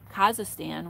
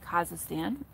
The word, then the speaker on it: Kazakhstan: so yuri lives in kazakhstan which i kept on saying wrong but i've been told is kazakhstan let me know if